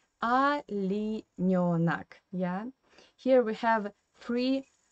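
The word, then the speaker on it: оленёнок: the Russian phonetic system, because O in unstressed position you pronounce like A. That's why we say in Russian not Olenionak, but Alinionak, yeah?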